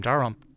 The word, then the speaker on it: Dalrymple: Now, if you are in Jim Dalrymple, how do you say his last name?